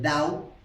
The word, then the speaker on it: Dao: El Tao o el Dao, en el tipo de escritura o pronunciación del Pinyin, en la filosofía china se traduce comúnmente como el camino o la vía.